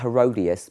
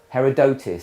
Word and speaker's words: Herodotus: a greek historian called it's not herodias but it's how you pronounce it herodotus something like that herodotus we'll go with